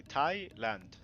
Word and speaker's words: Thailand: So it's the H is silent in Thailand. So you just say Thailand.